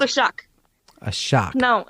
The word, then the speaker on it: Shuck: It's called a shock. A shock. No, it's called a shock. Shock. Spell that.